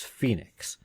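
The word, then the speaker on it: Foenix: the the C 256 Phoenix or Foe fonox I understand it's supposed to be Phoenix but it's spelled f OE and IX which is not how you spell Phoenix but this is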